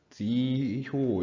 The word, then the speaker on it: 지효: 네, 저거 잘 발음을 어떻게 해야 되죠? 지효 이렇게 읽어주시면 되겠죠?